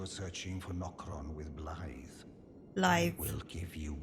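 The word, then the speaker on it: Blaidd: Yeah, he said Blythe. It just the pronunciation looks nothing like how it's actually how it's spelled. Yeah, Blade, you're right. I thought they were saying Blade, but it's Blythe. It's weird. No, it's like Blythe. Blythe.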